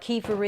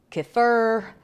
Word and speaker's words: kefir: of a cup and if you don't know what Kefir is and I may be saying it differently than other people doesn't mean it's a wrong way to pronounce it but it's also pronounced uh keer uh I'm not sure it's k i k